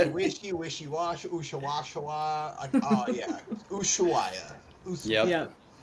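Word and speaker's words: Ushuaia: Usuaya.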